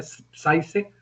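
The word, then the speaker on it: Žižek: Hay otros filósofos como Zizek, se pronuncia Zizek, algo así, es polaco, y hay otro francés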